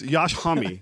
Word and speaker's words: Josh Homme: You know his name is actually pronounced Yash? It's Yash Hummy.